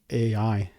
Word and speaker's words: AEye: I a AI right it's crazy name but AI That's how you pronounce it the full name it's